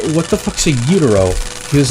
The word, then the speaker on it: gyro: Like he was saying, what the fuck's a utero? He was like, is that saying gyro in Spanish? And I'm like, well, it's how they say it in Greek, and he didn't know what I was talking about.